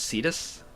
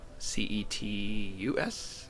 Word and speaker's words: Cetus: And I believe it's pronounced Cedus, Ce Tus, if I remember correctly.